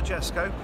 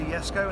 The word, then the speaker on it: Jesko: So don't say it as it's spelt, because it's not the Jesko, it's the Jesko, and it's paying homage